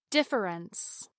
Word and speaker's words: difference: In this exercise, I will pronounce all the syllables first, then drop the unstressed vowel. Family, family. Difference, difference.